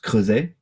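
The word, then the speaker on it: Creuset: um actually it's a French brand and it's pronounced croset it's not because there is a t at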